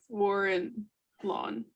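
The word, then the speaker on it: Vorilhon: made-up pronunciation v-o-r-i l-h-o-n warren lawn now but french don't pronounce the n on the ends the l's not really in there either don't worry i'm pulling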